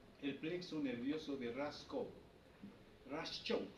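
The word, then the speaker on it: Raschkow: Raskow se escribe, ¿no? R-A-S-C-H-O-W, ¿no? Raskow.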